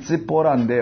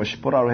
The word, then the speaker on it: 십보라: 원래는 찌뽀라인데 우리 전에 했었던 거 한번 기억하신다면은 우리 발음상에 십보라로 했는데 좋습니다.